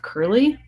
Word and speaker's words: Curley: when I think of Curley it rhymes with this surly he is surly he